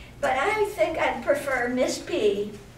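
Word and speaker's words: Pfilligree: Well, you could, but I think I'd prefer Miss P. My name is spelled P-F-I-L-L-I-G-R-E-E. The P is silent, like it is in pneumonia. You don't say P pneumonia.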